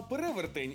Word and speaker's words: перевертень: думаю перевертень перевертень перевертень із цих двох варіантів правильний тільки один і це перевертень наголос на другий склад а перевертень якщо забули - це